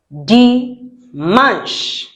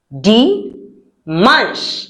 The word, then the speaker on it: dimanche: Dimanche. Now let's look at the writing. Dimanche. Okay, so it's not dimanche. It is dimanche. And we say manche because CH in French sounds sh, not ch.